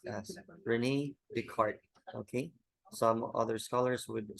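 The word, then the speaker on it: René Descartes: K he is called or his name is pronounced as Renee Dart okay some other Scholars would say that beart now but most of the scholars which matters would saying Renee deart the thinking thing so the thinking thing here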